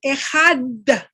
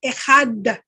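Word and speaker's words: אחד: Israel, Adonai Eloheinu, Adonai Echad, el judío tiende a pronunciar mucho esa D, esa Dalet del Echad.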